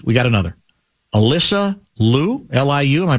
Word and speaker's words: Liu: Liu, am I pronouncing that right? Liu.